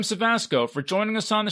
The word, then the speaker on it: Cevasco: And Cevasco is spelled Cevasco. Yeah, no R. There's no R. No, everyone wants to put an R in my last name, but it rhymes with Tabasco.